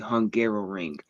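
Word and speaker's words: Hungaroring: don't know the name, it is called the Hungarrow Ring. It So it does sound like I was just mispronouncing Hungary trying to say it a second time.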